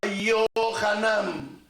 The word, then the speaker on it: Yohanan: Juan no se llamaba Juan, se llamaba Yohanan. Va con Y.